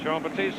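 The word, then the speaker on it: Jean-Batiste: out to 43 Garin JEA batist and Jean batist carries the ball to about the 43 that is not a mispronunciation his last name in total is jean- batist I just call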